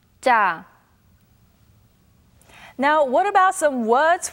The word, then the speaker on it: 짜: Please listen carefully to the accurate pronunciation. 짜, 짜, 짜.